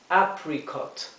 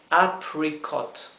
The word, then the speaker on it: apricot: o al baroque es apricot apricot apricot la dificultad nuevamente radica en la letra r hay que pronunciar la r como se pronuncia en inglés con la lengua detrás del paladar apricot para kiwi tenemos kiwi